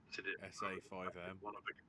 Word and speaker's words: SA5: Boycotted it over the fact that one of the characters was called SAM. But he pronounced it Sam because apparently the five is silent.